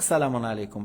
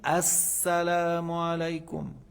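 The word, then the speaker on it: السلام عليكم: alum nonam alum shams on dit lettre solaire assalam al mais le on la prononce pas on l'écrit mais on la prononce pas il faut pas dire salam alkou il faut dire assalam alou assam alumahmatah on commence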